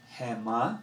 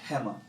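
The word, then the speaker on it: הֵמָּה: is feminine for they emphasis or accent which syllable you don't say hey ma you say Hema so you would say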